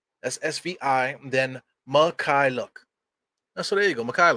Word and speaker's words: Mykhailiuk: basketball reference basketball reference this is how you pronounce his name man it says right here on the top is fee ma Kai look listen SV Michael look that sound that's easy